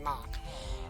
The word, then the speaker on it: Mach: I'm not, well, that is how I pronounce his name, it's just Mach.